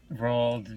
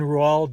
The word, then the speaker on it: Roald: Roald Dahl. I do not think you actually pronounced the D in Roald Dahl.